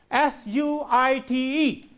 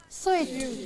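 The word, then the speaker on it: suite: Here is the word, S-U-I-T-E. How can you pronounce the word? Sweet. Sweet. Sweet. But it is not suit, it is sweet, as in S-W-E-E-T.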